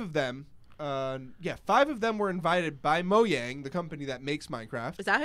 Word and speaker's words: Mojang: It's Mojang. There's no j sound, I believe, in Swedish, so it's a ja.